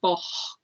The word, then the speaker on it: boc: So the word for a goat is spelt B-O-C and it's pronounced boch.